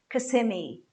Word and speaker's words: Kissimmee: Going back to Florida, Kissimmee, Kissimmee. Kissimmee is a very popular place among Brazilians that have houses in the States. It's a place in Orlando, so it's Kissimmee, Kissimmee.